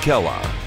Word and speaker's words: Kela: Keone Kela, correct? Is that the correct Kela. Pronunciation? Kela. Yeah, Kela. Keone Kela.